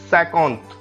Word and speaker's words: cinquante: 50 will be cinquante, cinquante. So if you want to pronounce 50 in French, the word will be cinquante.